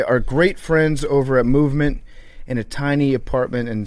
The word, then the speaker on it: MVMT: MVMT, it's pronounced Movement.